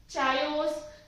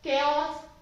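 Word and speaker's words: chaos: Next one, this is चायोस, कायोस, केओस, केओस। Actually में इसको केओस ही बोला जाता है। चायोस या फिर कुछ और नहीं प्रोनाउंस करते, इसका करेक्ट प्रोनाउंसिएशन है केओस।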